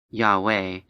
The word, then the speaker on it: Yahweh: below is the math for numerical values of pronounced yahweh and written in hebrew as four symbols if